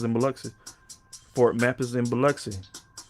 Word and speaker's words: Biloxi: And they had the I, you could pronounce I as E. So Biloxi. All right. But that's how you pronounce it. Biloxi.